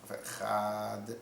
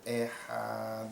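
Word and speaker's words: אחד: Il ne faut pas non plus faire chad, echad. Il faut bien tout prononcer.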